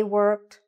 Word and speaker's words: worked: Now, when you're saying this word, make sure you're saying the ending correctly. Worked, gone. Don't shorten it because otherwise it will sound like your grammar is wrong because of the pronunciation, okay?